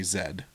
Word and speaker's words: Z: I think they say zed. So Z in America, but Z is Zed over there. So that rhymes with that.